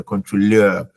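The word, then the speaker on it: Kontrolleur: I didn't say controller because controller is from French. So in German, EU is oil. Okay. If a German was to like if we were to use the actual pronunciation, then it would have been controller. Yeah, but then because it's borrowed from French, that's why contrôleur.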